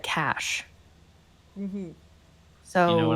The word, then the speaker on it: cache: So in this case, Never heard it they said that pronounced way. it incorrectly because it should have been old cash from the revolution, unless they meant Yes.